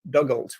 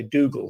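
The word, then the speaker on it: Dugald: did this presentation before I pronounced his first name Douglas which I thought is what it was I was told that you should you should say Dougal so I'm gonna go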